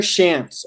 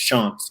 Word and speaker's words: Shantz: about his so joining me now sean's hello everybody am i pronouncing that right yeah uh sean's exactly you you do hear chants a lot and yeah i do yeah well